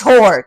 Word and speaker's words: Hoare: He's like, it's whore. Just say it. Hoare. Hoare. I'm just gonna say it. Ollie Hoare.